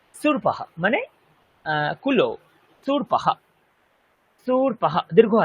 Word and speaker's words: शूर्पौ: Number 8, সুরপাহা মানে কুলো। সুরপাহা, সুরপাহা দীর্ঘ আছে, দেখুন আমি উচ্চারণ করছি সুরপাহা, নট সুরপাহা, ইট ইজ সুরপাহা।